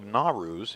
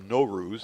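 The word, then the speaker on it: Naw-Rúz: a talk on the Feast of narus in Alexandria of norus as actually it should be pronounced in Alexandria Egypt in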